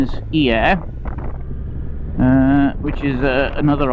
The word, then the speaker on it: Hyères: in a place called Hyères, that's the pronunciation in French. If you're English, it's pronounced Yerres. But the French pronunciation is Hyères.